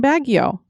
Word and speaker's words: Baguio: three generations of my family have lived in baguio grand folks moved there around 1955 so it